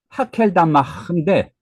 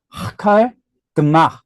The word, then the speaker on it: 아겔다마: 근데 이제 헬러 발음 그대로 하자면은 하켈다마인데 그 여기 보면 그대로 요 아람어인데 아람어 발음을 보면은 하칼 드마 이렇게 돼요. 근데 우리 보통 한국 사람들 발음하고 틀린 게 요 알렙이 크로 발음되진 않는데 이게 목구멍에서 나는 소리거든요. 그래서 아마 그 그리스 사람들이 히브리어나 아람어를 들을 때 하고 이제 같은 느낌으로 이렇게 들었던 것 같습니다.